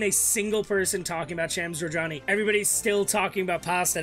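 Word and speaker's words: Shams Jorjani: Chief Creative Officer, while, as I understand it, is pronounced Shams Georgiani?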